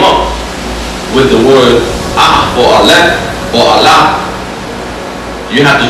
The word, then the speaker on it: Aleph: The first letter is Allah, or how to pronounce it today, Aleph.